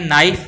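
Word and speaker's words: knife: यह नाइफ लिखा जाएगा इसको अपने बोलते हैं नाइफ बोलते हैं निक इसमें के की आवाज नहीं ए रही मतलब के इसमें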